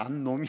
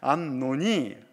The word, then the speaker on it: 암논: 이 육체적인 정욕에 눈이 먼 이 암놈이, 발음을 잘해야 돼요. 암논입니다. 암놈이 아니라 암논이.